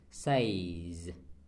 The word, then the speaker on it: says: sau động từ say, và nhiều người vẫn đọc nó là say, chúng ta đọc là says, không đúng, đúng không bạn?